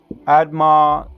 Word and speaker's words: Admah: Those other cities, let me go again for pronunciations. Admah, Zebohim, and Zohar, Bela. Zohar, Bela, that's 1 city. Zohar, Bela is 1 city. Admah, Zebohim, Sodom and Gomorrah, that's 5 altogether.